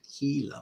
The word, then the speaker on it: Gila: those who don't know Gila is spelled with a G not an H so if you look at it you might say oh the the Giant Gila monster no it's a Giant Gila monster thank you for